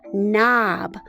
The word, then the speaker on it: knob: So this just says as in knob. Okay, so we're gonna spell knob. All right, so we're going to put that there. Let's get a gray marker for the silent K.